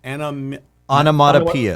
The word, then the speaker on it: onomatopoeia: How's it pronounced? Onomatopoeia. Onomatopoeia, anaphora, rhetorical questions, imagery, the tricolon.